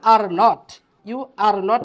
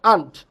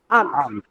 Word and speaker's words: aren't: রান্না করতেছো, এই ইউ আর নট কে আমরা কন্ট্রাকশন, সংকোচনে কি পড়েছিলাম? সংকোচন, আন্ট পড়েছিলাম, তাই না? Aren't. Aren't. হ্যাঁ, আরেন্ট না, এটা উচ্চারণ করবো আন্ট। কি বলবো? আন্ট।